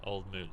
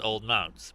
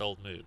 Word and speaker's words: Old Mout: used to think it was Old Mounts, but it ain't. It's It's M-O-U-T. I know Yeah. that, but how do you say that? it's Old Mood.